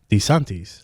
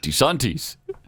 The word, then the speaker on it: DeSantis: want Chris Cruz to prove to us that he can pronounce DeSantis DeSantis like that's how he said danties bro I mean when